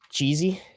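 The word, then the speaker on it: Chzii: Cheesy. C H Z I I um is how you pronounce it.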